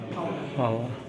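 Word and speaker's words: hour: तो ऐसे में क्या ध्यान रखना है, जिनका प्रोनाउंसिएशन क्या होगा, वॉवेल होगा, एच साइलेंट होगा, उनके पहले एन लगने वाला है।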